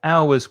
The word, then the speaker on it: hours: And the v from the v sound from of connects with the vowel sound, because remember the H is silent on hours.